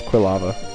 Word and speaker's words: Quilava: There's so many different like pronunciations. You know, this is quilava or qua lava. Quava. Quav. No, it's quill lava.